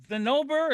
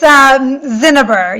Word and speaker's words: Zinneber: Yeah, it's Zinneber. You did pretty good though. Accent on the first syllable.